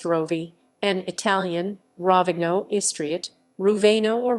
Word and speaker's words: Rovinj: ravage ravage croatian pronounced rovi an italian ravigno estriot ruvaino